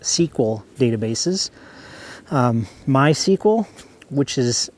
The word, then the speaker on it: SQL: different names Microsoft uses SQL pronounced sequel databases my sequel which